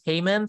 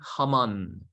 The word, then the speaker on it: Haman: about this Heyman guy some people pronounce his name is Heyman some people say Haman in the original language too it's Haman but in English they always change words in English so in English it's Heyman let's read the VIP